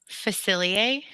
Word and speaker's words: Facilier: Facilier. We've got Facilier.